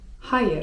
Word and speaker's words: hayır: ewet) A 'nie' to po turecku: hayır (czyt. hajyr) hayır (czyt.